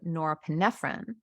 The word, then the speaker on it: norepinephrine: A non-stimulant is an alternative that also increases the level of norepinephrine but not dopamine.